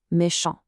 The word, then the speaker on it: méchant: Notice the sound here, méchant. It stops cleanly right at the nasal on sound, and the final t is completely silent. Because Paul is male, there's no e at the end to wake up that t.